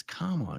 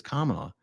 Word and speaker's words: Kamala: It's Kamala. Yeah, Marilyn says it's Kamala. Shit, I've been intentionally saying it the other way because I thought people were saying it the other way to intentionally mispronounce her name. See, I double psyched myself out. Oh, sorry, guys. I didn't mean. Oh, that's how I should have remembered it. Rhymes with Mamala.